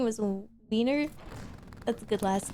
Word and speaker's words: Wiener: Looking for an icy wiener here. Icy wiener. That's from The Simpsons. Actually, in Germany it's pronounced Wiener, so...